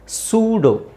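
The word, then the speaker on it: pseudo: ಇ ನು silent ಆಗಿರುತ್ತೆ ಸೂಡೋ ಸೂಡೋ P silent ಮಾಡಬೇಕು ಈ ಸೈಲೆಂಟ್ ಮಾಡಬೇಕು ಸೂಡೋ ನಿಮಗೆ ಈ ಪದ ಈ ತರ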